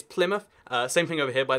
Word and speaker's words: Plymouth: We've got Plymouth over here, or Plymouth, as you might guess, if you're going to get it wrong. But no, it's Plymouth.